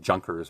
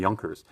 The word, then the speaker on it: Junkers: And it looks like, if you read this, it's with a J, it looks like Junkers, but in German it's the Junkers.